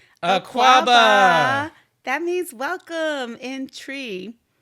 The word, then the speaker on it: Twi: That means welcome in tree. Yes, it's spelled TWI, but that is one of the official languages in Ghana.